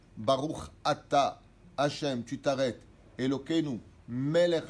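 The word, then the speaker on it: ברוך אתה: Pas Baruch Hatta. Dieu, il n'a pas Hatta. Hatta, ça veut dire fauter. Baruch Atta.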